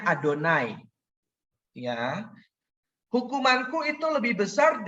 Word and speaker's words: YHWH: Ingat, Tuhan huruf kapital itu YHWH ya. Bacanya Adonai.